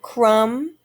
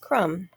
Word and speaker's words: crumb: and you'll notice that the b is silent when we pronounce that word crumb we don't say ba at the end it's just crumb all right our next